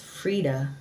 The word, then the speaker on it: Freedia: Frida adopted his stage name after a friend dubbed him Frida, pronounced Frida. According to Ross, I wanted